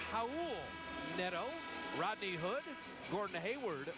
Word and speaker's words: Raul: He pronounces it Raul, Neto, Rodney Hood, Gordon Hayward, Derek Favors, and Rudy Gobert.